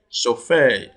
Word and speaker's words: chauffeur: Chauffeur has sh, which is also contained in shining.